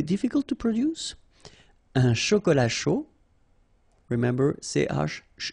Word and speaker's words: chaud: All right, so un cappuccino, not really difficult to produce, un chocolat chaud, remember CH, chaud, chocolat, and then final T not pronounced, chaud, final D not pronounced, un café glacé, un